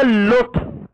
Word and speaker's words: اللطف: كم كتبت بكم لام بلامين ونضع الشده على اللام الثانيه وننط قها بلام واحده نطقا ما نقول اللطف لا اللطف لاما واحده ونضع الشده على اللام الثانيه نعم الكلمه الثانيه تصبح الليمون الليمون تكتب بلامان هكذا ونضع الشده على الثانيه وفي النطق تنطقها لاما واحده مشدده كلمه ليث تصبح ماذا